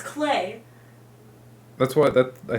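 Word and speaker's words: Klei: It's not Clyde. Their tagline is it rhymes with play, so it's Clay.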